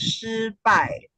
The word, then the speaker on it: 失败: So, yeah, in Chinese, it's pronounced as 失败, and it's two Wow.